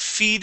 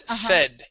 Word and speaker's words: fed: let's go to fed instead of feed us it is fed fed excellent okay let's